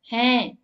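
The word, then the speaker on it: हैं: எப்படி ப்ரொனவுன்ஸ் பண்ணணும், ஹேன்.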